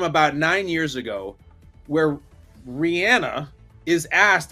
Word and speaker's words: Rihanna: old and not cool and not hip it's Rihanna dude it's Rihanna and so he's I'm sorry